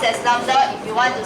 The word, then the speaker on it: lambda: It's pronounced as lambda.